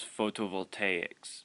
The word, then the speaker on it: photovoltaics: The panel method is known as photovoltaics. Yes, that's how you pronounce it.